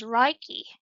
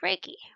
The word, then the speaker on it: Reiki: Although the proper Japanese pronunciation is Reiki, it has been westernized Reiki. And I used to say Reiki because I took a different class and then I worked at a chiropractor and she told me I was wrong. I hadn't pronounced it Reiki, so I've been saying it that way ever since, but you can say it either way.